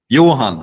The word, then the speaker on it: Johan: a Swedish letter to like be able to pronounce it correctly oh what does it look like in Sweden Johan right Yuan yeah Johan yo what does it look like